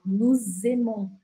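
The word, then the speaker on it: nous aimons: começo da próxima palavra então por exemplo nu termina com s normalmente eu não pronuncio esse s mas como o verbo Aqui começa com a né com a i Eu Vou grudar o som dessas duas palavrinhas E aí eu falo no zemon como se tivesse um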